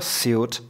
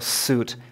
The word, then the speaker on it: suit: a Suit A mimochodem nevyslovuje se to jako Suit ale jako Suit tak si to Zapamatujte